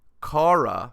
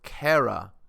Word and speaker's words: Kara: i laughed because he called me uh cara when my name is actually pronounced kara and i laughed and